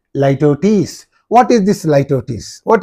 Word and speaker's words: litotes: How do you pronounce this one? Litotes. You have to say Litotes.